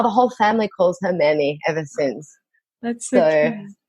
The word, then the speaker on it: Merme: It's called Merme. Merme. So Mer, like M-A-I-R. That's how you would write it if you had to pronounce it.